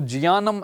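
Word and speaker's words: ज्ञानम्: जैसे कि आप देखिए ज्ञानम अब जा लुप्त हैं तो इसको जियानम ऐसा बोलना चाहिए हमें।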